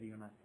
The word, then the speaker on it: eunuch: You pronounce it as eunuch. Yeah, eunuch. Something that starts E-U-N-U-C-H, eunuch.